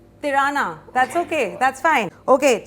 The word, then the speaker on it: Tirana: It rhymes with Kirana, so it is Tirana.